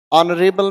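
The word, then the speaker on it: honourable: ऑनरेबल man, observe करें तो आ की साउंड, इसीलिए चुना एन।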